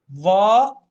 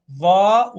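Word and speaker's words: ظاء: وأيضا تتشابه الضاء في النطق مع الثاء من ناحية خروج اللسان، تسمى الحروف اللثوية. ثاء ضاء، ثاء ضاء ذال، ثاء ضاء ذال، ثاء ذال ضاء. نفرق ونستشعر الفرق حين النطق، والجميع ينطق وهو جالس الآن ويفرق. ضاء ضاء، وهذا تاء تاء، هذه فيها رقة وهذه فيها رقة، لكن هذا فيه ضخامة وفخامة، ويسمى من حروف التفخيم.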